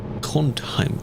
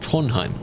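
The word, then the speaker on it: Trondheim: Tronheim. Tronheim. Apparently you don't really pronounce the duh in that sound.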